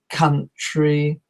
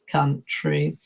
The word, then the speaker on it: country: cow tree but it's not count tree it's country country and another one which is a problem is pronounced is front so the spelling is with